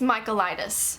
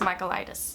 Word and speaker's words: Michaelides: It's called The Silent Patient by Alex I freaking just looked up how to say this name. I think it's Michaelides. I think, you know what?